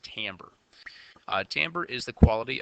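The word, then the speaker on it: timbre: account for something called tamber I know it's kind of spelled like Timber but it's pronounced tamber uh tamber is the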